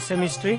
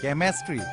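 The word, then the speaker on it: chemistry: পয়া কি অমঙ্গলিয়া কথা কইছে স্যার এখন কলেজ সেমিস্ট্রি সেমিস্ট্রিট কি নাম কি ভোট লাগিছে ইংল্যান্ড রানি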